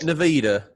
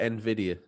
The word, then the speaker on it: Nvidia: the switch used was you call it Nida a lot of us call it Nvidia Nvidia thank you for the correct pronunciation no problem um the